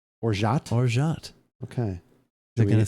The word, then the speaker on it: orgeat: Wait, I don't even hear the T at the end. Did you? Orgeat. Orgeat. Well, but if you look at the pronunciation, though, their T is there. Orgeat. Do it slow. This is weird. Orgeat. Oh, there's the T.